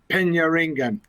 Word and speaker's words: Penyaringan: Penyaringan.